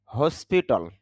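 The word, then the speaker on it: hospital: হসপিটাল যদি আমরা হসপিটাল বলি, ট সাউন্ডটা না বললেও হয়।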